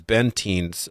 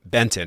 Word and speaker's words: Bentin: road and it was bentin uh Benton Benton excuse me but it's spelled bentin it was his story and